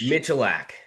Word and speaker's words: Michalak: It's Michalak. It's Polish. Michalak. Well, Google failed me, and that's okay. But yeah, thank you so much for joining. Yeah, we have Michalak.